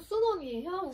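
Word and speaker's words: 쑨원: 한자로 하면 손문이고요. 발음은 순원이에요. 순원이라고 하는 사람이 대표가 되어서 중국 동맹회를 만들게 되었습니다.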